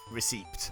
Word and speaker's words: receipt: I'm gonna get blue back, and then we'll sync up the Pokédex receipt, I think. Receipt. Yes, you clearly pronounced the P in receipt, Ebeza.